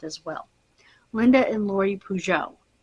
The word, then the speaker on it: Peugeot: these last month as well Linda and Lori pujo p e u g o t spelled like the car so um Linda and her